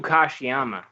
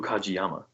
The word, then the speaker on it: Kajiyama: Manabu Kashiyama, number 5. That was, you just butchered his name so bad. Really? Yeah, Manabu Kajiyama.